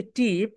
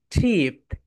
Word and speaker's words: ট্রিপ: ট্রিপ, আমরা বলি টিপ, কিন্তু রাইট প্রোনাউন্সিয়েশন কি বলতো my dear soldiers? ট্রিপ, ট্রিপ।